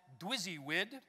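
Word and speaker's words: DWYSYWD: who i mentioned earlier called it dwizzywid that's how you pronounce that which stands for what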